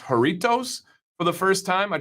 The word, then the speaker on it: Jarritos: And yes, I tried, I think it's pronounced Jarritos for the first time.